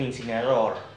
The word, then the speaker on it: Incineroar: Incineroar, dice. Algo así habla. Incineroar. Incineroar. Incineroar. Algo así dice. Bueno, porque en inglés le dicen Incineroar. Como se pronuncia.